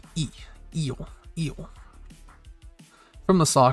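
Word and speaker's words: え: Pronounced E, eel, eel.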